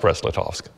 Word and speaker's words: Brest-Litovsk: But it's still pronounced Brest-Litovsk.